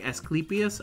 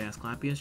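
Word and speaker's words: Asclepius: locks sorry as clus I know his name is like esus I don't say it like that I say escapas just to make sure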